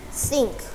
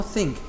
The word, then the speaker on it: think: Sink. No, think.